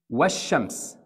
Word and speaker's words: والشمس: This لام here is silent. Just skip those. والشمس. From واو, jump to شين directly.